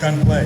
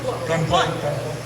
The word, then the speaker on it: Gunpla: Oh, Gunplay. Okay. My mistake. But you had it right. You're good. Gunpla. Gunplay. You both said it right, it's fine.